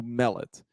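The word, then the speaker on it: Mellott: Mellet. Yeah, that's what I guess. I was. Brooke Turtle Ghostly says it's pronounced like melon, so Mellet. So Mellet, the quarterback who stepped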